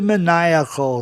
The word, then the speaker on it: maniacal: E maníaco, adjetivo, maniacal. São dois grupos diferentes. IAC no fim soa IAC, maniac, como zodíaco, zodiac. Se fosse zodiacal, seria zodiacal. E a terminação iacal, você pronuncia dessa forma.